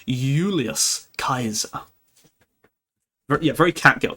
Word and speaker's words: Julius Caesar: it's like pronounced as Y, like a U. So, it's not Julius Caesar, it's Ulius Kaiser.